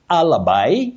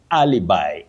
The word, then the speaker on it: alibi: It's from Latin and you say alibi or alibi. An alibi, that is when you talk of matters of law where somebody was when a some crime took place. And you say alibi or alibi. Don't say alibi.